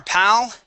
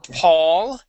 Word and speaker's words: pal: pal okay uh we are PAL okay instead of Paul okay instead of Paul like the name Paul this is pal this means friend yeah yeah it it